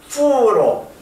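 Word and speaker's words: 福: 근데 이 복자는 그 벌레 충변에 이렇게 복복자의 그 시자 뺀 거 이것을 쓴 것이 그 복자인데 발음이 후로 행복할 때 복자와 같아요.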